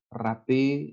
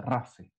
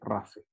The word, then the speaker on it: rafe: Se producen en una región, chicas, que se pronuncia así, no se pronuncia rapé ni rafé, se pronuncia rafe. Así como decir rafa, así rafe.